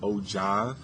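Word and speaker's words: ogive: have a oh it looks like old gears but it's pronounced oh John graph this goes in ascending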